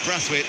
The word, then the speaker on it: Braithwaite: quietly affected breath weight it is breath weight by the way even though it's spelt braithwaite that was an administrative error by the us authorities there's not supposed to be an eye in his name here is uh destroyer